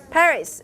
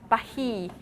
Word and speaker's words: Paris: filet how about this in american pronunciation it's pronounced paris and in french pronunciation is yes okay can those people who speak french compare these two words the english pronunciation paris with the french pronunciation bahi